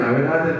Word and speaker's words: 야훼: 발음 좀 이렇게 그렇지만 본래 발음은 사실 이 야훼에 가깝습니다. 하여튼 뭐 하나님께서 여호와라든 야훼라든 다 그냥 뭐 봐주시겠죠.